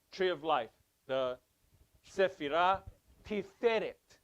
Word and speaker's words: Tiferet: The Sephirah Tiferet. It's not Tiferet, it's Tiferet, because you have a double segol. You have a double E. T-I-F-E-R-E-T. T-I-F-E. T-F-E-R-E-T. Re. Tiferet. Not Tiferet.